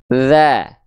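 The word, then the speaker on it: ذ: Tapi fokusnya menyentuhkan, mengarahkan ujung lidah kita ke ujung gigi sari atas kita. Oke? Jelas ya, sehingga pelafalannya kurang lebih seperti ini. Perhatikan baik-baik. Za. Ingat, hanya cukup disentuhkan tipis-tipis saja. Tidak perlu kuat-kuat disentuhkannya. Kenapa? Karena kalau terlalu kuat, bahkan ada yang bilang sampai digigit, maka suaranya akan mampet.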